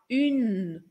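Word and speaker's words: une: no un no feminino pronunciar o n cuidado porque a gente não fala o e do final mas vai falar o n Tá bom então a gente fala un Olha a diferença Se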